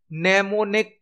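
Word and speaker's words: mnemonic: है assembly language में नेमो निक code use किए जाते हैं नेमोन कोड यहां पर एम साइलेंट होता है नेमोन कोड यूज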